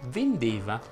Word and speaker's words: vendeva: molto molto semplice, perché tutte le E toniche presenti all'interno delle coniugazioni vanno pronunciate chiuse. Se prendiamo per esempio il verbo vendere, si dice io vendevo, tu vendevi, egli vendeva, noi vendevamo, voi vendevate.